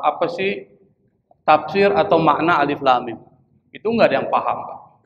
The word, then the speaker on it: Alif Lam Mim: terputus-putus jadi nggak bersambung kalau dibaca bersambung berarti seperti ada huruf alif lam mim alam itu namanya bersambung tapi ini disebut dengan huruf yang terputus-putus dibacanya maka membacanya harus Alif Lam Mim ini adalah salah satu